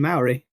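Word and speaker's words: Māori: They were saying that I might be getting this wrong, but Maori isn't right, and it's closer to Maori or Maori. so you put the emphasis on the second syllable.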